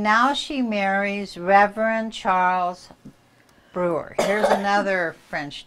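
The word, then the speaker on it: Brugier: everybody pronounces it differently I pronounce it Brewer I have cousins that pronounce Abreu guerre but it's BR ugh ier and so she marries Reverend Charles brew beer and he gets transferred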